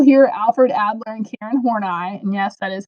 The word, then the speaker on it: Horney: the major people here Alfred Adler and Karen horney and yes that is how you say her